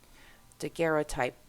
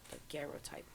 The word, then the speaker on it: daguerreotype: popcorn in my keyboard daguerreotype yeah I guess I'm saying it right to get okay the emphasis is on the second syllable the Garrett type it's fine right before